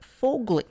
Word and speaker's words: Foegele: First up from the Carolina Hurricanes, we have Warren Foegele. Kind of like Mowgli, but Foegele.